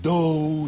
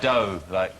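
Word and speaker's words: D'oh: Do see you in court? I assume it's got something to do with The Simpsons, which is pronounced do. Just a little detail there. It's not like dough, he's not even listening, is he?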